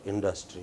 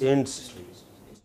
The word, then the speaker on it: industry: yeah, no, it is not industry, it is industry.